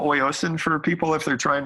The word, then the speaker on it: Oyasin: And can you spell oiocin for people if they're trying to find that, or do you have a website for that yet?